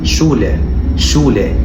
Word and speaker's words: Schule: المقطع اللي معانا بعد كده مقطع ال SCH وده بيتنطق ش zum Beispiel schreiben يعني يكتب، وده Schule يعني المدرسة، وده schön يعني جميل.